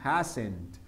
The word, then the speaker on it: hasn't: sería como hasn't, así, hasn't. Juan hasn't been. ¿Cuál será la pronunciación? Más o menos algo como así, hasn't, terminas una T, hasn't.